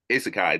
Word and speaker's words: isekai: the term um our isi isi isai isekai there you go that's our our isekai